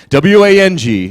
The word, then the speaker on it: Wang: Okay, W-A-N-G, yeah, a lot of people, for instance, the designer, Vera, W-A-N-G, says she pronounces it Vera Wang. When I meet her, I'm gonna shake her, is what I'm gonna do. I'm gonna like, why did you do that? You know, W-A-N-G and W-O-N-G are both pronounced the same way.